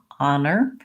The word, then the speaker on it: honor: messed you up but thinking of it as an ah honor is fairly easy versus let's look at